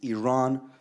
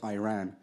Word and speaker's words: Iran: Our country is named Iran, not Iran.